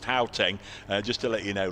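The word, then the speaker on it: Gauteng: Guys, um, Gaoeng is pronounced Haeng.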